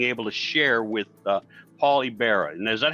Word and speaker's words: Ybarra: Today, I have the wonderful pleasure of being able to share with Paul Ybarra. And is that how you pronounce it, Paul?